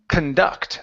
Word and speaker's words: conduct: last one here is instead of cond it's conduct so the stress is on the end of the word so the c n here at the very beginning instead of saying con or con it's C conduct conduct there you go to